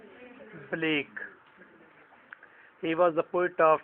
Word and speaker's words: Blake: Black नहीं पढ़ना, Blake.